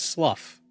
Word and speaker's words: slough: Well, there's slough. Like when like your skin, or slough, your skin sloughs off.